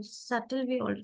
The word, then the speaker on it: subtle: No, subtle we have B as silent.